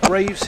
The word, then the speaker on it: Greaves: So Diana's given us the grammatical version, but Betty Holford says it's pronounced Graves here in the Caribbean.